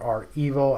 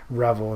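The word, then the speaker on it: REvil: into this very deeply or are evil i don't want to pronounce it wrong i might get an email from a syracuse professor that i said revel instead of our evil um so anyway the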